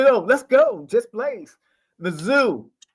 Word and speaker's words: Mizzou: Mizzou. That's really how they say it.